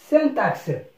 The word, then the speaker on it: syntaxe: Syntaxe, le IN, Y, ça c'est I, se prononce comme un.